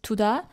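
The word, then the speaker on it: 두다: So we read the first tigut as t, since it's the first letter in this word, and second tigut as d, because it's placed between vowels u and a.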